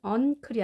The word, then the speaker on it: uncle: 자, 이때 n 발음은 uncle이 아니라 자, ng 발음이 됩니다.